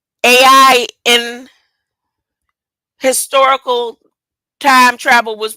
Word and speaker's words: Ai: travel was pronounced I AI is pronounced I so when you see the word AI in scripture it's not pronounced AI the land of AI it pronounced the land of I where the Giants were